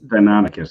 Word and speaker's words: Deinonychus: Deinonychus, you got it.